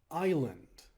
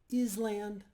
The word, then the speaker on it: island: a few times and each time I pronounced it in my nasally confused voice is land now my dad never corrected me so the next Monday as I stood in class and I began reading aloud something happened out of my mouth came the correct pronunciation of Island along with a more